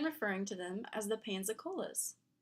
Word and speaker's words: Pensacola: The change of pronunciation to Pensacola seems to have occurred under British rule, as the English used Pansacola and Pensacola interchangeably. When the city returned to Spanish rule, Pensacola was again used exclusively until the